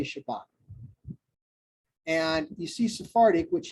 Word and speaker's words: Shabbat: Like you might have heard some of the old school Jewish people go Shabbos, good Shabbos. That's because they're pronouncing this like an Ah instead of an Ah. We would say Shabbat.